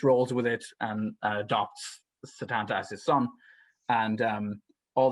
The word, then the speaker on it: Setanta: is named Setanta, and Setanta will become Cuchulainn. Santa Claus. Setanta. Oh, no, okay. and it's probably pronounced more like Sedanda, but anyway, but it's spelled Setanta.